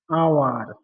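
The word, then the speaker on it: hour: দেখেছিলাম এটা হচ্ছে একটা অতীতকাল, তাহলে হবে আই শ হিম এন আওয়ার এগো। এখানে আমি আওয়ারের আগে এন কেন বসালাম? কারণ এজের উচ্চারণ না হয়ে অ এর মতো উচ্চারিত হয় এজ, তাই এখানে এন আওয়ার বসালাম।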